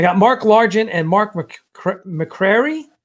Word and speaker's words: McCrary: I got Mark Largent and Mark McCrary. Am I pronouncing it correctly? McCrary, yeah. McCrary. Yep.